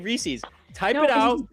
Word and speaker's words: Reese's: It's supposed to rhyme. Reese's Pieces.